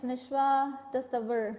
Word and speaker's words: Nishwa Tasawwur: Nishwa, ma'am, it's Nishwa Tasawwur. You pronounce my name wrong, I'm sorry.